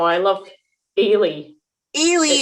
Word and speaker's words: Eilidh: Ailey, how do you spell that? Ailey's lovely. EILIDH. What? You guys are always sneaking in these weird silent I D's.